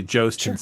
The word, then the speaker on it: Jhostynxon: The phonetic spelling, the phonetic sound of it. It's basically Jostinson.